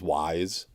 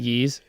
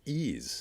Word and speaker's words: Ys: Is it Yeez? Some people say Yeez. Yeez, yeah. However, the Japanese pronunciation of it is Ease.